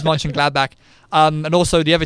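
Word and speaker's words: Mönchengladbach: glad back I just you said it right you got it right I was gonna ask you rob who's in fifth place and it is Ming gladbach um and also the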